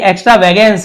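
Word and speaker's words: extravagance: ये sorry एक्स्ट्रावेगेंस है, ये ज नहीं है, ग है, क्योंकि GA लिखा हुआ है ना, तो इसे ग पढ़ेंगे।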